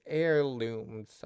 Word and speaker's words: heirlooms: Family Heirlooms. I think the H is silent.